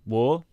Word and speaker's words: Waw: Firstly, it's called War.